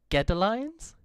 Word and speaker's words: Godalions: I've actually just had someone message me saying it's actually pronounced Godalions.